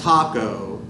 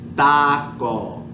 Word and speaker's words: taco: It's not a taco, taco. It's taco, taco. It's a little different.